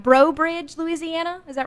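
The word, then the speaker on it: Breaux Bridge: from tell me if I say it right bro Bridge Louisiana is that right bro Bridge you yeah you nailed it I'm so proud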